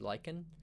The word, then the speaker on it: lichen: We've got some grow lichen, I think it's pronounced lichen. And yeah, we've got a massive ravine here.